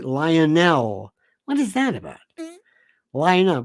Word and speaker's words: Lionel: Lionel. Rhymes with vinyl.